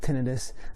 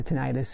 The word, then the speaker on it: tinnitus: you know how that it's called tinnitus or tinnitus however you want to pronounce it um I started having